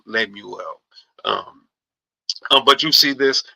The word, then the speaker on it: Lemuel: It's like Samuel, but with an L. Lemuel.